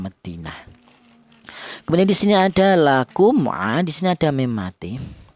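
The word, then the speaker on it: لكم: Yang benar mem mati ini dibaca jelas atau dibaca idhar, lakum.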